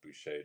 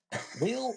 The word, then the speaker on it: Boucher: So, like, I relate to that, but Buché just sounds fancy and French. I love it. I've been saying it wrong this whole time. I've been been like boer will boer. The artistic interpretation of it just totally valid.